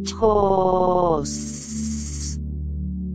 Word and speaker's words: CHOS: Se vocaliza este mantram así, CHOS.